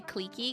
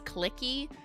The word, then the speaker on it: cliquey: Yeah, I say cliquey because clicky just sounds like I'm like talking about a mouse cursor and I'm clicking.